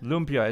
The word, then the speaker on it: lumpia: So how do you pronounce it? Lumpia? Lumpia is Lumpia.